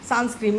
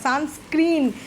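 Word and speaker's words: sunscreen: meeting আসে মানে প্রথম প্রথম দেখেছি আমি কি উচ্চারণ করলে সানস্ক্রিম আমি কোথা থেকে শিখেছো সানস্ক্রিম বলে কোন কোথা থেকে শিখেছো তখন চুপ করে থাকে আমি সানস্ক্রিম নয় সানস্ক্রিন একটা পর্দা একটা কার্টেন আমরা দিয়ে দিলাম আমাদের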